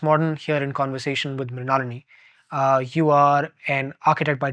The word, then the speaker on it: Mrinalini: Mrinalini. That's how you pronounce it, right?